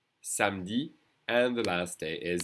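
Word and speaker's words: samedi: is pronounced s okay Sami and the E is really not pronounced at all s Sami and the last day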